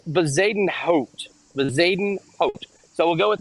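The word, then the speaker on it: Bezuidenhout: Announcers struggle with this guy's name. I've been told it's Bezaden Hout. So we'll go with Bezaden Hout.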